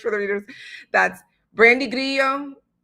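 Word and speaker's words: Grillo: That's Brandy Grio Grio Grio if I pronounce it an Americanized way.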